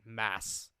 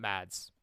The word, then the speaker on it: Mads: Sorry, it's Mads Mikkelsen. That's how you actually pronounce it. Mass, not Mads.